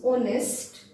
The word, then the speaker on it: honest: so in this words the H remains silent so we pronounce honest and Oh is it